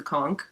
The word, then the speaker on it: conch: So, um as promised recently, the last time we had lots of people, I have the conch, which is pronounced conk, so I'm going to start.